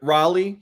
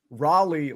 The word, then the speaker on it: Raleigh: There might have been confusion too, because Luke Rayleigh might have gotten the alarm since you pronounced Raleigh like Riley.